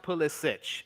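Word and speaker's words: Pulisic: well and and by the way Hannah it's pronounced pull this sich it's of uh I want to say you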